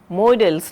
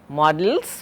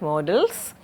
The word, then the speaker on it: modals: Now, there is another word that you or term you should be familiar with, that is modals, not pronounced not as models, but modals.